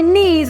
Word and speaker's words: knees: I have knees go on your knees my knees I have knees do not forget a k is not word pronounced therefore K is not be word transcribed